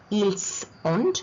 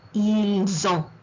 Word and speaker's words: ils ont: It is not ils ont, but ils ont. The T is silent.